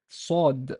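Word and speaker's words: صاد: other element happens here basically what happens alveolized or as alveolar is produced not at the teeth like so but a bit further back in the mouth as in the tip of your mouth of your tongue will be at in this area basically not at your teeth but here this is where the where your tip gets into at the alveolar Ridge sword sword does not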